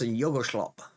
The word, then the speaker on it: Yog-Sothoth: I believe it's pretty close to how it's pronounced. Yog-Sothoth's often how you hear it. Um or Yog-Sothoth's is often how you hear it. I do know, I'm pretty sure the J is a Y sound.